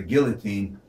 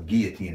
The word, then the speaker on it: guillotine: so many lives from the guillotine or guillotine as should be pronounced the civilian population is sneeringly nicknamed and mr.